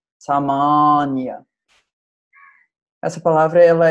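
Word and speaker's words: sāmānya: a que é semelhante a pronúncia certa é samonia essa palavra ela é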